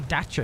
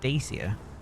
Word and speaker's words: Dacia: Apparently dacer is the right way to say that. I always used to call it dacia. Apparently it's dacer.